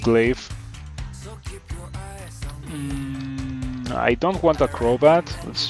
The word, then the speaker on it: glaive: People say that it's pronounced glaive.